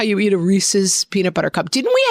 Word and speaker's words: Reese's: It's Yeah, it's Reese's. Like it rhymes with pieces, not Reese's Pieces.